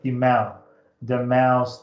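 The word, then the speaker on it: Moivre: De Moraes theorem, usually pronounced as sometimes pronounced de Mau's theorem. So it's a French mathematician. A lot of silent letters, let's say, but you'll probably hear me say de Moraes. So de Moraes. Moray, I guess.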